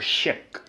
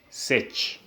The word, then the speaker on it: sech: SE all right but SE is pronounced as uh SE or she so sh X this one you pronounce it as she or you can say sech it is given by